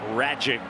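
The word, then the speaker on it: Rajcic: Max Ragic rhymes with tragic.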